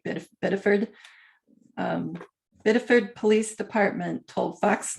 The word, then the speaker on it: Biddeford: The Biddeford, which is BIDDEFORD, and we say it funny in New England, so we say it like Biddeford.